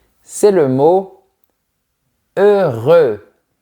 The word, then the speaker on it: heureux: C'est le mot heureux. Projette bien les lèvres vers l'avant.